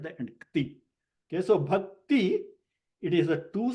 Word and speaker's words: bhakti: Yes, Bhakti, that's how it should be. Bhakti. The E sound comes after t.